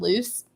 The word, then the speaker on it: Lucy: they asked me like how to pronounce uh lucy's name and i said loose and they they were